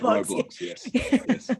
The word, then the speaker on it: Roblox: he pronounced it i never know how to pronounce it roblox that's right roblox but all these things are shared um and